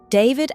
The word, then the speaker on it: D4vd: David Anthony Burke became famous under the stage name D4VD, pronounced David.